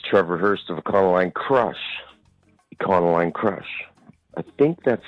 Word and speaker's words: Econoline Crush: At no point did he hard pronounce the O.